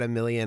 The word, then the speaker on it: Omilion: what is it it's it's just add a million audio million audio omi l i o